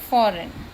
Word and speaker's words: foreign: we can write here foreign. Okay, when we speak foreign, then G is silent.